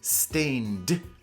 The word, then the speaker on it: stained: glass windows in churches remember the pronunciation is stained stained glass windows this carpet might be